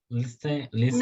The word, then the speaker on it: listen: Listen. Não pronuncia o T, listen. Como se não tivesse o T.